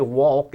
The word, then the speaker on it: walk: You know, both words have a silent L in the middle. We don't say walk and talk. We say walk and talk. Actually sounds like O-C-K, but it's A-L-K in English.